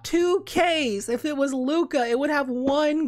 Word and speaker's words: Lukka: i have so many every time i play laka on the channel everybody in the comments on youtube is like it's luca i can't stand you saying luck but dude